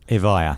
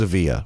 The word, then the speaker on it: Evija: proud of will you pronounce it for me avaya avaya yeah i thought it was a via okay i'm off you